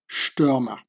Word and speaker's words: Stürmer: The ST is like pronounced like sh, Stürmer.